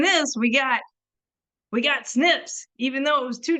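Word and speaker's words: SNP: like genetic genealogy profiles we make it a word and pronounce it as snip it's it's like it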